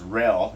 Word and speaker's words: realm: Realm, you have L again in realm, even though it's E-A-L, it's pronounced rel.